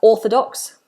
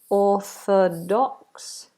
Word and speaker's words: orthodox: It's a long vowel. It's a big space in the mouth and it's far back, like in the word door or floor or the law, like mother-in-law. Don't break the law. On the floor, through the door. Orthodox. Big space in the mouth, no movement, not o, which lots of people do.